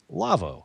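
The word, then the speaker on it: Lawo: by our friends at lavo l-a-w-o pronounced lavo they make some audio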